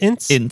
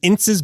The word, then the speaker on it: Ince: Is it Ince? Pronounced Ince?